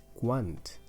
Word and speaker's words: quant: it next word is want how much you have to really pronounce the T so that you don't miss understand this with one which means when so is one how